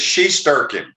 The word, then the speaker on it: Shesterkin: Pronounce his last name. Shesterkin. It's Shesterkin.